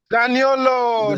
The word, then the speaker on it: Zaniolo: Is that Zaniolo? Zaniolo, that's Chi baby said. Chioma said it right.